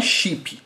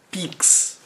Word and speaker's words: PIX: Não é chip, tá? É PIX. PIX. Não confunda. Mas vamos lá. E é lógico, né? Eu sei que chip é com CH, mas a forma como a gente pronuncia poderia... como a gente pronuncia poderia ser com X, né?